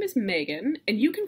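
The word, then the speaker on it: Meganne: i wouldn't share myself so my name is megan and you can call me megan because you're in college and that's fine so you can call me megan if you email me and are addressing me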